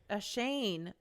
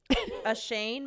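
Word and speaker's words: Oisín: i s i n it's like an Irish name so I know that it's not going to be pronounced how it's spelled how do you spell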